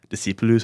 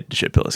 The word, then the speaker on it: Discipulus: Well, there's like the right way to say it, which is like Discipulus, I think. Yeah. It's Latin. I just say Discipulus because it's easy.